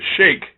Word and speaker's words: Sheik: And yes, I am reminded that my erudite English pronunciation of the SHEIK, while technically correct, is not how we identified the gentleman in question back in the day when he was in the ring as the Iron Sheik.